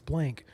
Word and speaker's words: Blanc: in the chat like it's not Blanc, it's blank. Okay, I'm never going to make that mistake again.